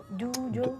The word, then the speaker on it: dojo: How do you pronounce that? Dojo?